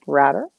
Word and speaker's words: Ratter: And good evening to Henry Ratter, rhymes with ladder.